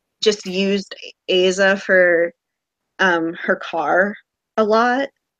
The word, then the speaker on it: Aza: Aza. That's how John Green pronounced it when he read it on tour.